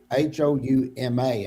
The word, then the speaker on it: Houma: So the first Selena, she had a little bit of accent, but she grew up in Houma, and it's Houma, and it's down on the bayou.